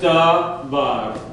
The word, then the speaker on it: davar: Okay, so davar. Davar. So, how many syllables are there to this word? Two. Davar. Okay? So, the emphasis is going to go here. Davar.